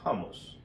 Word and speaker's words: hummus: famosa crema de garbanzos los jamos Ok se pronuncia de esta forma porque lleva una H doble m OK entonces es una